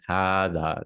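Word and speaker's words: هذا: But hada is written like this. Notice that. Okay. But we pronounce it hada, like an alif.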